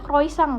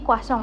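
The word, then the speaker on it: croissant: Aku biasanya bacanya kroisang, Guys. Jadi, kuasong. Oke, Kasong. Oke.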